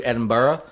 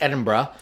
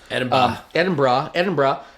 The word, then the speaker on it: Edinburgh: I actually looked up how to pronounce it. I used to always do Edinburgh. It's Edinburgh. Edinburgh.